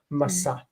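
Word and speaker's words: משא: The nun, when it's right up against another consonant with no vowel underneath it, a silent shva, it wants to disappear. We said that nun is like a weak consonant. It's not weak itself, but it's like a weak consonant. So it's masa.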